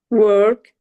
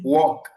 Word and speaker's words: work: Tout le monde a bien prononcé. Beaucoup de francophone disent walk. En fait, W c'est pas bien prononcé parce que W c'est un autre mot qui s'appelle comme ça, c'est marche ou bien marcher.